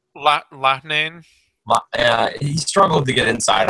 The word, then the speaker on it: Loughnane: Loughnane.